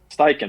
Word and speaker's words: Steichen: defensive coordinator, and then Steve, how do you pronounce the name of your Eagles OC? Shane. Steichen.